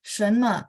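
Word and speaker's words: 什么: 什么 shennya 2 sebenarnya ya. 什么时候开学？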